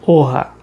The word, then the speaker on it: Rioja: a região de de Orra. A gente se escreve como é rioja, mas a pronúncia que os espanhóis sempre utiliza é é orra.